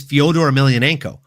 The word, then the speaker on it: Fyodor Emelianenko: the name he doesn't even know how to pronounce. Like, it's Fyodor Emelianenko, the last fucking emperor, one of the greatest heavyweights to ever grace any form of mixed martial arts fighting, folks.